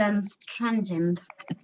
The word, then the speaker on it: anstrengend: So the easiest way to try and pronounce this word is separate it into 3 words. An, strength. So anstrengend. Anstrengend. Okay, anstrengend. Then I'll pronounce it as one word.